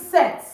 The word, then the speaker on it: cet: sorry for the mix-up, whether it begins with a vowel or it begins with a consonant, set is set. It doesn't change.